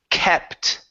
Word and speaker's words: kept: keep the word is kept kept it you good yeah so keep is with a double e this one only has one e so it is short okay so kept it